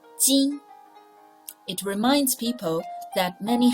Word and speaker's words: 巾: Its pronunciation 巾.